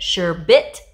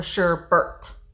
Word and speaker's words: sherbet: uranium glass sherbet sherbert do you say it sure bit or sure bert i say sure burt so let me know